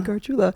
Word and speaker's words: Gargiula: my social media is just my name Anthony garula which Spencer does not know how to pronounce that's not true Anthony Gula just said